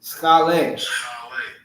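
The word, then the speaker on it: σχολή: All right, and it's pronounced school. All right. Strong's G4981. I'll let him say it. Skale. Skale.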